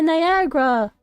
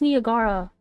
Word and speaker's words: Niagara: Yeah, Niagara. I thought it was pronounced Nagara.